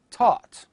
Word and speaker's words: taught: The letters GH in various words, such as night, light, taught.